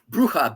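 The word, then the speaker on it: brucha: Uh bruha. B r u c ha. Bruha. Bruha. Okay. It has nothing to do with the word bruha like as a witch in Spanish or bruhaha.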